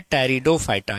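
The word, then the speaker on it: Pteridophyta: है उसका नाम है टेरिडोफाइटा यहां पर पी साइलेंट है टेरिडोफाइटा टेरिडोफाइटा क्लियर तो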